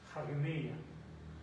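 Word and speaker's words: ἁγνεία: Esta comita de que arriba se pronuncia como si fuera una H o una J, hagneia, que significa limpieza, pureza y castidad.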